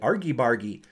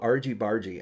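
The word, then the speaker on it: Argybargy: called Argy bargy or when I first bought it I think I called it Argie Bari I I didn't know how to pronounce it and I think it's called ARG bargie and I think it's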